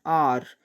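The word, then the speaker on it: hour: ஆர் அப்படின்றது ஹெச் அப்படின்ற கான்சனண்ட்டில் ஆரம்பித்தாலும் இதை நம்ம உச்சரிக்கிறது வந்து ஓ சவுண்டில் தான். ஆ அப்படின்ற அந்த சவுண்டில் தான் வந்து நம்ம இதை உச்சரிக்கிறோம். ஹெச் வந்து சைலண்ட்டாக இருக்குது. அதனால் இதுக்கு முன்னாடி வர வேண்டிய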